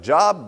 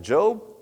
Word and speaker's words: Job: If you read it, it looks like Job, but we pronounce it Job.